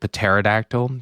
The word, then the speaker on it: pterodactyl: I was a kid pterodactyl because the p is silent dinosaur costume and then